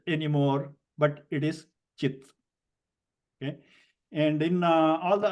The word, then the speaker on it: cit: and we know that we use the letter c for the cha sound okay so it is not sit anymore but it is chit okay and in all